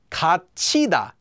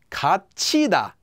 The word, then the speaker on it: 갇히다: Remember that when the hiat comes before or after a regular consonant, it makes that into a strong consonant. So here it makes that regular tgut into a strong tiat, so you get kachida, kachida.